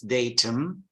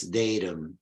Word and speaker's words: datum: from Latin dato okay but just pronounce it differently in British English it's datum well in American English again I think it's called slack tea they pronounce when a t is between two vowels they frequently pronounce pronounce it as a d like water so it's datum datum okay datum and